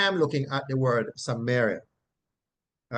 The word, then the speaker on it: Samaria: Now, the transliteration of the word from the Greek to English is Samaria, and it is pronounced Samaria, Samaria, Samaria, Samaria, right?